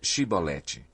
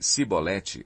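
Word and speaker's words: Chibolete: Se respondesse que não, diziam: "Então diga Shibolete." Se ele dissesse Sibolete, sem conseguir pronunciar corretamente a palavra, prendiam-no e matavam-no no lugar de passagem do Jordão.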